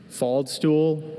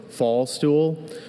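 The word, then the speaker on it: faldstool: Fald stool. Also fall stool.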